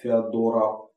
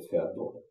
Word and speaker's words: Феодора: Но он не отличался большими способностями и был, в общем-то, исполнителем воли Феодора. Или Феодора, как ударение ставить.